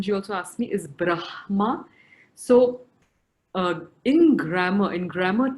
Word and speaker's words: Brahma: legitimate pronunciation for it having said that i would again go with the logic of the order of the letters that are written so if it is written i would prefer pronouncing it as brahma because the effect i